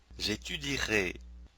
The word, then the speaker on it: étudierai: voudrais mentionner est que dans les verbes en IER, UER, OUER et accent aigu ER, au futur simple, nous prononçons seulement les voyelles I, U, OU, et. Le E après ces voyelles n'est pas prononcé.